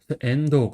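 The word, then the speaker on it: 遠藤: 선 같은 경우는 이제 멀하고 등나무 등이 합쳐진 한자예요. 그래서 여기서는 멀은 N이라고 읽고 그다음에 등나무 등은 도라고 읽어요. 아까 전에 등나무 등은 토라고 읽었는데 여기서는 도어라고 있죠.도 도토 뭐 이렇게 여러 가지 있는 방식이 있다. 확인해 주세요. 앤도 그다음에 그다음에 이름은 이제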